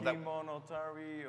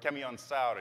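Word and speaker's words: Kemiönsaari: For FanFest Home, I cannot really pronounce this. No, well, Kimonotari or... Kemionsari. Kemionsari, there you go.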